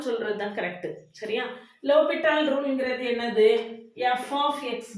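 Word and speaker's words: L'Hôpital: pronounce பண்ணியிருப்பீங்க அதான் பிரச்சனை எல் இதான் லோபிட்டால் இதில் ஹைச் சைலண்ட்டு எஸ்ஸும் என்னது சைலண்ட் அதனால நம்ம எப்படி தான் இதை ப்ரொனவுன்ஸ் பண்ணணும் அப்படின்னு கேட்டிங்கன்னா லோபிட்டால் தியரம் அப்படின்னு தான் ப்ரொனவுன்ஸ் பண்ணணும் ஆனால் நீங்கள் ஸ்கூலில் காலேஜில் எல்லா இடத்துலையுமே நிறைய இடங்கள்ல எல் ஹாஸ்பிட்டல் ரூல் அப்படின்னு சொல்லி கொடுத்துருப்பாங்க இந்த மேடம் ஏதோ புதுசாக சொல்கிறாங்க அப்படின்னு நினைக்காதீங்க ஆக்சுவலாக எல் ஹாஸ்பிட்டல் அப்படின்னு சொல்லக்கூடியது தப்பு லோபிட்டால்னு சொல்கிறது தான் கரெக்டு சரியா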